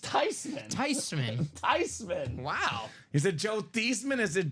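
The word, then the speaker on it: Theismann: V I think it's okay actually the correct pronunciation is tyman I'm starting to see why Joe tyman was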